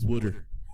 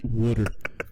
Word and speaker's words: water: say water he says water he he does he doesn't pronounce it with a T he pronounces it with a d water water you know we're